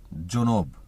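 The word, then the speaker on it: جنوب: দক্ষিণকে আরবিতে বলে জুনব উচ্চারণটা হবে জুনব পূর্ব পূর্বকে আরবিতে বলে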